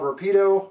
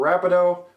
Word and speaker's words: Rapido: But today's review is about two items from a Canadian company called Rapido or Rapido. I've heard it pronounced both ways.